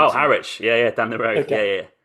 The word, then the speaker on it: Harwich: So I went to Harwich, which I'm pronouncing. Oh, Harwich.